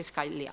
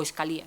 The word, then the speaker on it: Scalia: y el fallecido escalia juez scalia o escalía se puede pronunciar de las dos maneras ese debate tuvo lugar